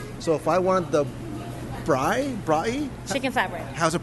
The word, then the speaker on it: braai: So if I wanted the braai? Chicken flatbread. How's it pronounced?